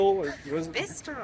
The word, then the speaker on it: Bicester: Right now, we're up in Bicycle, or what is it? Bicester. Bicester. It is not pronounced the way it is spelled.